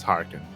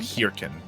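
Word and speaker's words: hearken: is that word harken is it harken but because it's spelled with an ea yeah it's harken it's not here ken it's harkening harken to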